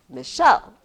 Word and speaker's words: Michelle: See, that's how I would scan my name. Michelle. I'm not Michell.